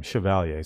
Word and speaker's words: Chevalier: Chevalier because nobody out there can even pronounce my name Chevalier see HEV a li ER if you write